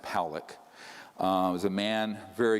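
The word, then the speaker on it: Pawelec: had 600,000 views this man William poock is pronounced poock uh was a man very good man who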